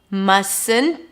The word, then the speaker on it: mustn't: Must not, mustn't. I dropped the T of the must. Mustn't.